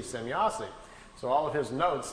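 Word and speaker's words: Semjase: So he wrote it out, S-E-M-Y-A-S-E, Zemyazi.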